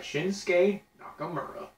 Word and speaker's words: Shinsuke Nakamura: Shinsuke Nakamura.